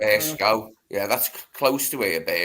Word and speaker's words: Burscough: How do you pronounce it? Burscough.